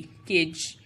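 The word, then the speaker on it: cadge: Rule number one इज the letter D is usually silent when it appears before the letters N एंड जी. It means कि डी की sound silent हो जाती है अगर वो एन या जी से पहले आए किसी वर्ड में. Example C ए डी जी ई, केज.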